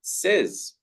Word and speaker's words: says: The correct pronunciation is says. It is an E sound.